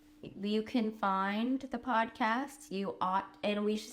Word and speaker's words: Aught: And you can find the podcast, You Ought, and we should say it's spelled AUGHT like the Aughts.